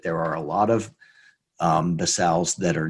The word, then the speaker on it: BSAAO: We get into the real meat of basals, and you can pronounce it that way if you want to or not, of non-manure-based basals, because